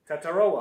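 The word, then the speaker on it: Tetairoa: How do you say it? Taroa. Say it with me. Tataroa. Tataroa McMillan.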